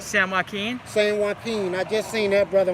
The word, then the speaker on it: San Joaquin: Did I pronounce that right if I said that wrong? San Joaquin? San Joaquin.